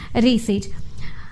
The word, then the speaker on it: receipt: Receipt, ikkada p silent, receipt, we have to pronounce it as receipt.